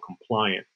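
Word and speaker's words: Complyant: in a company called compliant it's spelled like compliant except it's with a y so c-o-m-p-l-y-a-n-t um um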